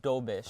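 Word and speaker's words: Dobeš: it's and it's I I was mispronouncing his name before I was saying do do I I wouldn't have known yeah it's it's Jakob doish where's he from czechia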